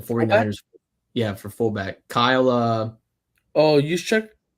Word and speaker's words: Juszczyk: Juszczyk? Juszczyk.